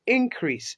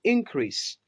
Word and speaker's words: increase: Kalmar increase in ta zo a verb or a noun ana furta ta hanyar sa mata stress on the first syllable. Sai ka ce increase.